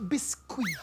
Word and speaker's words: Biscuit: It is pronounced Biscuit.